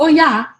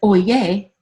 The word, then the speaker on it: Oya: However, one minute he's speaking about Oya, which he mentions as Oye. He didn't pronounce it correctly.